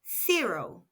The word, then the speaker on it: cero: That's fo spelled c e r o and pronounced zero. Note the letter C followed by E or I is pronounced S.